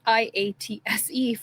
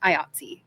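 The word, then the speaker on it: IATSE: They let me know that it's not IATS for the union. It's pronounced IATSI.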